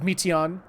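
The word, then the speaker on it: Meteion: of all time with Meteon. And her name has meat in it, or at least that's how they pronounce it.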